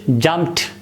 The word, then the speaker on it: jumped: The next word is jumped. Try to pronounce it like jumped. Da sound at the end of the word. You can't pronounce it. It is jumped. Again, this da sound is t.